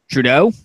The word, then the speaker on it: Trudeau: application window alright again if I pronounce his name wrong I'm sorry but it I believe it's Trudeau is that how you say babe yes Justin